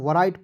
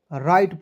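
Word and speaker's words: write: आई टी ई तो बहुत लोग इसे राइट पढ़ लेता है क्या है गलत तरीका दोस्तों इसे क्या पढ़ना है राइट पढ़ना है डब्लू को दोस्तों इसमें साइलेंट करना है आर आई टी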